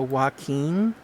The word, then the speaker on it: Joaquin: a lot of uh it's spelled really weird because it's spelled with a j and a lot of people don't know that how to say it which is completely understandable because you know it doesn't look like it would be joaquin it looks like anyways